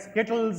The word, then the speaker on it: Skittles: SK what did you say skit can you spell it correctly SK k i TT i s l l s that's correct Skittles is the right answer you said kitties so